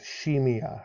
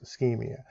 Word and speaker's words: ischemia: looks like it says shamea right it's a hard k it's pronounced ischemia so Maya's muscle cardio